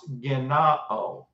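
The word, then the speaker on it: γεννάω: It's pronounced genao.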